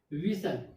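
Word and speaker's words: whistle: एच के rules में क्या आता है कि जब डब्ल्यू के बाद एच आता है, एच क्या हो गया? साइलेंट हो जाएगा। तो यहाँ एच क्या है? साइलेंट है। जब एच साइलेंट है तो यहाँ वी यानी डब्ल्यू और आई का लिखा गया, एच का लिखा नहीं गया। दूसरा, टी के पहले क्या आया? एस आया, यानी एस के बाद टी आया, तो टी भी साइलेंट हो गया, यानी कि इस वर्ड में दो लेटर्स साइलेंट हैं।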